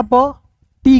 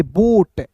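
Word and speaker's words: boat: पढ़ेंगे heart B का ब टी का ट ओ ए है तो इसका उच्चारण ओ के रूप में करेंगे बोट बी ओ ए टी देखिए आप खुद बोलिएगा बी ओ ए टी बोट clear है तो ये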